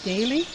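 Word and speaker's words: Dahle: by the name of Daley purchased the valley here his name was spelled d-a-h-l-e so it would have been Dale as far as pronunciation uh more or less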